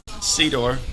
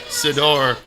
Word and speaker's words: Sedor: good question okay okay officially it's sea door okay like i see the door but um when i was in my 20s i went over to france there's a concierge and he um he pronounced it it was the first time i never corrected anybody okay cedar whatever but when i heard a french guy say sador i let that fly monsieur yeah so so